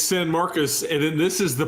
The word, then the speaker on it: San Marcos: How do you pronounce it? It's San Marcos, and then this is the Party School Bowl.